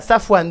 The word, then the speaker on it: Safwan: il s'agit de SAF comment se prononce ce truc ce que c'est il s'appelle Safwan et tout le monde l'appelé safan voilà Safwan donc la vermine purulente